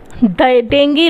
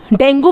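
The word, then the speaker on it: dengue: जो डिजीज़ेस आपको नहीं नोन है, एक मिनट रुको, डेंगी ले लेते हैं। चलो, डेंगू बोलते थे इसको, लेकिन इसकी जो करेक्ट प्रोनाउंसिएशन है दैट इज़ डेंगी। ठीक है, डेंगी जो है एक डिजीज़ है।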